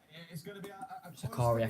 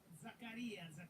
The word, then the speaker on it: Zakaria: club Milan an interview coming in from Milan sakaria from Juventus yes yes I think so zakarias all right you've got to say his name